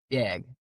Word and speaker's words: bag: So, the way we pronounce it apparently sounds like b y a g. Bag.